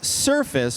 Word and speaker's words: Surfaice: And if you're listening it's surface but it's spelled AI. So s u r f a i c e is the tool.